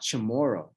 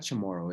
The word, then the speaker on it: Chamorro: pronunciation it's not Chamorro it's not Chamorro is it you can say that with you know how would you like someone to say to appreciate the culture more so the CH is actually a sport like a TS yeah it's so oh